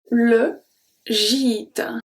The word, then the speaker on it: gîte: So when we have G following by E or by E, it's going to turn into a soft G.